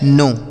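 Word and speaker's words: know: अगला शब्द है दोस्तों के एन ओ डब्ल्यू इसे पढ़ा जाता है नो। के एन ओ डब्ल्यू इसे पढ़ेंगे नो।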